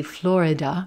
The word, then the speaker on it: Florida: I know it looks like it should be Florida, Florida. And you will hear that sometimes, but most of the time, this is going to be a two-syllable word. That middle syllable is dropped.